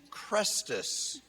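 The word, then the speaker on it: Chrestus: they were rioting over a man named crestus which is pronounced the same way as the christ and is probably a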